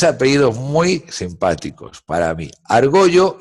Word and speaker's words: Argollo: Se puede pronunciar Argollo o Argolo, da igual, pero es Argollo.